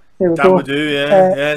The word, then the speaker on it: Dawodu: Dawodu. There we go. Dawodu, yeah.